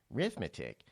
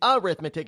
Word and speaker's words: arithmetic: as Reading Writing and rithmetic my goodness Rod don't you know anything arithmetic it's not how it's pronounced it's arithmetic it's not an R it's an a just goes to show